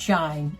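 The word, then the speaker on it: SHEIN: it's spelled s-h-e-i-n and it's pronounced shine just like when the sun don't shine or does shine they have everything from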